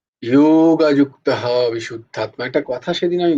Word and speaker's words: যোগযুক্ত: আচ্ছা, এই যে যেখানে যেখানে এই জ দেখতো না, এখানে কোথাও জয়ের উচ্চারণ হয় না, উচ্চারণটা হচ্ছে ইউ হয়, ইউ। সংস্কৃতে উচ্চারণটা হয় ইউ। তো জ বলো না, বর্গীর জয়ের ক্ষেত্রে জয়ের উচ্চারণ হয়। এই উচ্চারণ যেখানেই জ দেখতে পাবে সেখানে কিন্তু জয়ের উচ্চারণ করো না, ইয়োর উচ্চারণ করো।